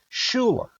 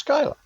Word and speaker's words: Schuyler: Their little boy's name is Skylar, but it's spelled Schuyler, and it looks just like Schuler, but it's Skylar.